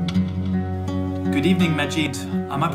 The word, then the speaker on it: Majid: good evening majid am i pronouncing your name correctly it's the question i